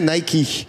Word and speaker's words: Nike: Voilà, qui se prononce d'ailleurs en anglais Nike.